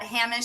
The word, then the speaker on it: Hamish: Pronounced Hamish, by the way, but I shouldn't have pulled you up on that. I'm going to say Hamish all right now.